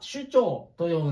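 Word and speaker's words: 首長: 本当は首長と読むんですが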